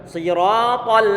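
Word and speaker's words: صراط: Jangan diucapkan sui. Kalau sui dengan kita monyongkan bibir walaupun toh maksud kita mengkasrokan, akan terpengaruh dengan pemonyongan bibir kita.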